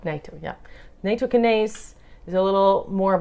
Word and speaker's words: Nattokinase: If you want to do more long-term, Nattokinase.